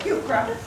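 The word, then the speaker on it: Heuchera: e r a in in botanic name CH is always pronounced as a k um so HRA and um as I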